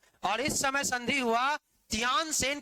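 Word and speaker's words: Tientsin: king S लगता है इसको कहते न Sen treaty of टी ई आई टी ई एन एस आई एन बैठ के अंग्रेजी उच्चारण नहीं करना न सेन लिख दो चप दोनों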